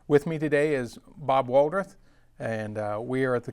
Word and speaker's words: Walradth: Bob, can you give us your name and spell it out for us, please? W. Walradth.